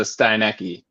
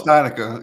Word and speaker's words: Steinica: So you said Kelly Steinica, and I totally thought it was a Steinecke. Oh, so, it's Steinica.